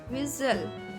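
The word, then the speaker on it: whistle: विज़ल, सीटी बजाना। यहाँ पर टी साइलेंट है।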